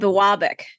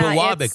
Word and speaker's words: Biwabik: United States is going to screw up the pronunciation of the city. It's called Biwabik. Oh, I didn't even see the name of the city on here. Yeah, Biwabik.